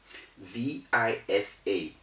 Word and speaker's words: visa: this as an example v-i-s-a v-i-s-a is pronounced visa you're wondering why i did